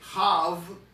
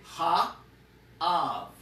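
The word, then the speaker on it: האב: You don't say Hav, no, you say Ha, you pronounce the He, Ha, and then you pronounce the word Av. So the He is not used as part of the word when you're pronouncing it. You just pronounce the hey as though it is separate, because it is. You'll say ha av.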